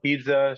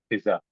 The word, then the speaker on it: pizza: terminology and um and the correct pronunciation of pizza should be Pizza p t s u h Pizza okay an Italian would take offense if you say Piza um and the small